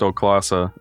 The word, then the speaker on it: Stoklasa: How do you pronounce his last name? Oh my god, help. Stoklasa.